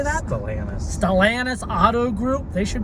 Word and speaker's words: Stellantis: Stellantis.